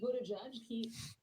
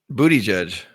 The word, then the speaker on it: Buttigieg: Buttigieg. So it's Buttigieg. Buttigieg. Pete Buttigieg. Buttigieg. It all boils down to the vowels. Buttigieg. The vowel in the first Buttigieg. is not like Buttigieg.